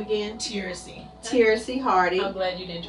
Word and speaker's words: Teracie: do you say your first name again seriously taracy hardy i'm glad you didn't try to say